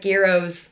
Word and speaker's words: gyros: It was like Gyros, is how you pronounce it, where there's like chips and a wrap and vegan chicken.